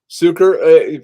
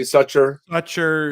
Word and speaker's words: Suker: Suker, people call you Sucher. Sucker. Yeah, Sucker.